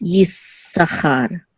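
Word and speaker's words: יששכר: that you're going to this indicates a doubling of this letter, and so you hold it a little bit. So instead of Issachar, it's Issachar. Issachar.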